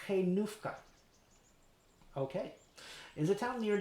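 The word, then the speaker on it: Hajnówka: to some people in hanyoka sorry switch languages there i don't know what han joka is apparently it's pronounced kenufka okay is a town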